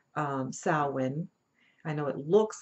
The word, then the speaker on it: Samhain: So when we look at Halloween, we're looking at a tradition that's actually called Samhain. Samhain.